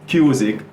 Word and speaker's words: Kuzikk: the significance of it so it's cuic rhyming with music and the three the